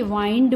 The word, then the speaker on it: wind: लेकिन यहां पर अगर इसी वर्ड को WIND को एज अ वर्ब हम लोग यूज करें तो इसकी प्रोनाउंसिएशन चेंज हो जाती है। ये विंड नहीं रहता, अगर वर्ब है तो ये वाइंड हो जाता है।